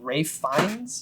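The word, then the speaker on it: Ralph Fiennes: I said because it's it's spelled like Ralph is it not like yeah I thought it was Ralph but it's R um but uh I I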